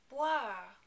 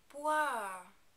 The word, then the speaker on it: boire: That O-I-R combination is often hard to figure out for English speakers, but it's really not too complicated. Just imagine a word starting with W-H-A-R, and then you put the first consonant, B, in front of it.